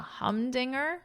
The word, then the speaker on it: humdinger: A humdinger. Humdinger means impressive or exceptional in. It's a fun word to say, isn't it? Humdinger, Humdinger. Dinger. So get that strong, err at the end, repeat after me.